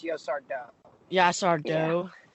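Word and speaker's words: Yaşar Doğu: It's supposed to be pronounced Yosar Do.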